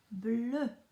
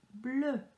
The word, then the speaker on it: bleu: So E and a U together makes a sound. A sound. Just imagine that you are sticking out your tongue and then saying that you don't like something.